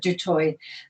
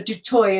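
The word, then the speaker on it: du Toit: using dutch instead of du toi so um they just got observed absorbed by the dutch culture and so de toy is how it's pronounced in south africa well it's just like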